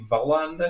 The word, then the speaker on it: Wallander: I don't know if it would be Wallander because they don't pronounce their W's. They pronounce V's and W's the other way around.